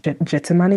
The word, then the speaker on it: Gethsemane: watch get uh Gethsemane even though I pronounce it I actually pronounce it Jetsmani because that's how you say it in Krill.